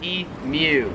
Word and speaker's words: emu: pronounce differently is imu so americans pronounce it okay so it's like it's like mewtwo mew the pokemon australians pronounce it e mew i recently did a